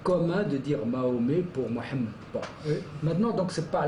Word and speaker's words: Mohammed: Bon, pour répondre à votre souci bon, je prononcerai Mohammed carrément avec le H guttural puisque je parle arabe et je fais aussi des débats en arabe, c'est pas le problème.